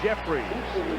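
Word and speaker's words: Jeffires: man it's jeffries for a first down haywood jeffries and that is the way it's pronounced even though the eye and the r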